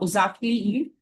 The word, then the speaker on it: Uşaklıgil: One such work is Ashtu Forbidden Love by Khalit Zia UK a prominent voice in Turkish literature. Uh G is silent in Turkish.